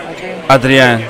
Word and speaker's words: Adrien: So I'm going to let you pronounce it. Is it Adrien? Adrien.